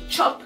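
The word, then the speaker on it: tchop: Vous avez compris, ça s'écrit T-C-H-O-P, chop, qui veut dire manger.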